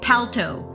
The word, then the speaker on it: Palto: Okay, Palto. Like a pal, like a friend.